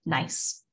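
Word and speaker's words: gneiss: can become a nice spell g-n-e-i-s-s but pronounced nice so this is one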